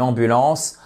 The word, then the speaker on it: ambulance: appel ou app une ambulance ambul ambul ambul l'accentuation se fait sur ces deux premières lettres qui forment la First